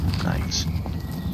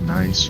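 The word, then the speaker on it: gneiss: can get lots of nice g n i SS I look I looked it up on the internet for how to pronounce that it is nice I I pronounced it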